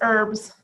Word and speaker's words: herbs: about home remedies yep the H is silent so it's herbs now if you know